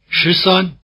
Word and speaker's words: 十三: 十三, 十三, 十三. Repeat. 十三. After the speaker, retaining a high tone on 三.